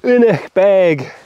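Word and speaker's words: Aonach Beag: a nice R number this is anic bag or unic bag proper GC pronunciation that is bright I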